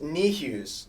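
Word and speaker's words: Niehues: our audience knows how bad i am at pronouncing names uh james knee hughes yeah yes uh if you don't know james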